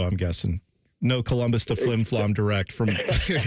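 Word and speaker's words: Flin Flon: Is the name of your hometown Flimflom? Am I saying that correctly? You're saying it correctly. It's uh Flimflon, Manitoba.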